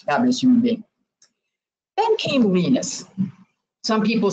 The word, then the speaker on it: Linus: Then came Linus. Some people say Linus, but it's really Linus. And Linux rhymes with Linux, so it's a little bit different.